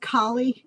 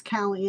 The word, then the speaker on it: Kali: And and her name is pronounced Kali in Hindu mythology, but it's Calli in the book.